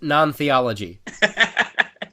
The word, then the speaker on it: NonTheology: you don't want to watch it eric it's pronounced non-theology and make sure you don't let any gay